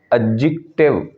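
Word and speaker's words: adjective: एडजेक्टिव, इस लफ्ज़ में जो डी होता है वो साइलेंट होता है, उसको हम प्रोनंसिएट करते हुए नहीं बोलते। एडजेक्टिव, एडजेक्टिव।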